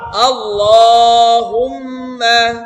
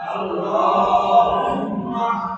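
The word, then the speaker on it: اللهم: আল্লাহুম্মা আল্লাহুম্মা আল্লাহ না আল্লাহ আল্লাহ ল হবে মোটা হবে উচ্চারণটা হুম্মা এটা একটা গুন্না ওয়াজিব গুন্না বলা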